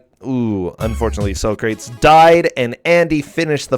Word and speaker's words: Socrates: Hey, I've actually had this discussion about Socrates' pronunciation before, and he completely agrees. It's Socrates. That's how you say his name.